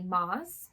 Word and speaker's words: Maas: I'm going to go, the pronunciation might be Maas because it's 2 A's.